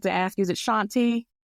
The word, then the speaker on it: Shawnti: So Shontae, I want to And am I pronouncing your name right? I forgot to ask you. Is it Shontae? Shontae.